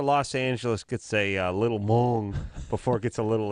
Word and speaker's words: Hmong: Yeah, because my nationality is Hmong. Yours is Hmong. Hmong. Hmong. It's a rare Asian. You're like a Hmonganite? Hmong. That's my nationality. How do you spell that? It's with a silent H, M-O-N-G.